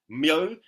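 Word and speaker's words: Myō: Mo, think of it as placing an M before one half of yo-yo.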